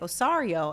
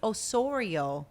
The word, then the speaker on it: Osorio: full name you know I was saying your last name wrong for a long time I'd be like osario and I watched all your interviews and I see how you pronounce it and I'm like it's Osorio I think it is